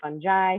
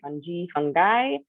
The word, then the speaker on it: fungi: so um fungi is a latin word so if you say fungi fungi as long as people understand you you can be confident you're saying it right and i will say it a couple different ways so tonight i will